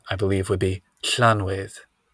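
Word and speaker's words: Llanwedd: I believe would be Clan with right so it's like doing it's like you put your mouth in the position for an l and then try to say an s Welsh um I think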